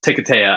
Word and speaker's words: Hiketeia: he does deny that's right yeah it is pronounced ticataya i just looked it up after fighting five